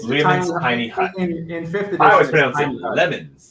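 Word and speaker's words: Leomund: It's Lemon's tiny hut. In 5th edition. I always pronounce it lemons, like lemonade.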